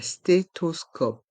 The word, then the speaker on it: stéthoscope: un stéthoscope dans le mot stéthoscope le P reste en suspens un stéthoscope un scan un stéthoscope